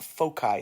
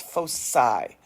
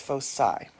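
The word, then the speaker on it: foci: It is not folky. It's fossai. It's fosai.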